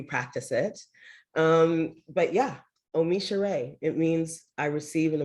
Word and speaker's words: OmiSoore: to help you practice it um but yeah omisha ray it means i receive an abundance of blessings